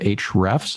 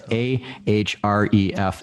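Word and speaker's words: Ahrefs: yeah your name and people like is it H refs Nakamura no it's a href Escom the only reason I called H rest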